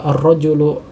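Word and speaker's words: الرجل: Kemudian juga ar-rajulu, ya, ar-rajulu adalah alif lam syamsiyah, ya, sama, ya, karena dia ada tasydidnya di atas. Kemudian di huruf lamnya, ya, tidak dituliskan sukun, ya, atau kita tidak membaca dengan sukun, jadi langsung dimasukkan huruf ro-nya, ya, langsung ar-rajulu, ya.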